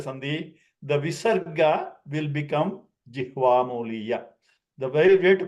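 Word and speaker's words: jihvāmūlīya: Okay, it generally the sound is like throat clearing kind of. So Jihvamuliya. Okay, so Kantya, like clearing the throat. Okay, and most of the times people pronounce as if it is another ka. Okay, but the right pronunciation, if there has to be illustrated, then it is like a gurgling, more of a gurgling kind of ka sound.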